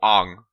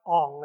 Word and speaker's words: Aang: you wouldn't pronounce his name as Ang either, but it's not like Ong. It could at least be Ang or something. And so they didn't even do it phonetically.